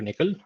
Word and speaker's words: NCCL: as backend equal to Nickel uh nccl it's pronounced as nickel uh I think the